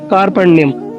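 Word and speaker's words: कार्पण्यम्: कुछ अलग लगेगा, लेकिन उसका जो प्रोनाउंसिएशन है वो है कार्पण्यम।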